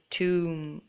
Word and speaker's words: tomb: So the B is silent in all of these words. So let me read them out to you. Doubt, debt, climb, comb, thumb, and tomb.